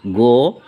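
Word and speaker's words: go: আবার জি এর পরে এ, ও, ইউ থাকলে জি এর উচ্চারণ গ হয়। যেমন জিএএমই গেম, জিও গো, জিইউএন গান।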